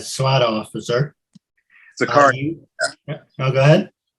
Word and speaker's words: Sicario: Sicario. No, go ahead. It's called Sicario.